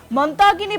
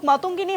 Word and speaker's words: মাতঙ্গিনী: নাম ভুল বললেন সঞ্চালক মাতঙ্গিনী হাজরাকে তিনি মতাগিনী বললেন এই নিয়ে আপনার প্রতিক্রিয়া